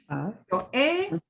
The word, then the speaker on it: he: Yo he. Yo he. Nosotros hemos. Tú has. It don't sound like us. Notice this H is going to be, you know, totally not pronounced, right?